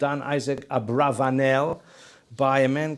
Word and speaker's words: Abravanel: but scholars have suggested it should really be Abravanel which is possibly more accurate from the Spanish